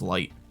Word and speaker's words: Light: as well he's like it's written with the character of moon and saw him else and it's pronounced as light there you go it's not Moon something um yeah that always